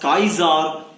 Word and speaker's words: Kaiser: Kaiser, always remember this word is pronounced as Kaiser William I.